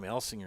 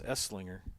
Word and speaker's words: Esslinger: Here I'm calling him Elsinger. It's Esslinger. Be quiet over there.